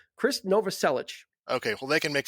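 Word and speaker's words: Krist Novoselic: went online and I looked up the phonetic spelling and it's Chris Nova selich okay well they can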